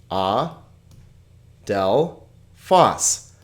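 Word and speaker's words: ἀδελφός: or something like that how about adele foss here we have three vowel sounds ah del foss okay now why did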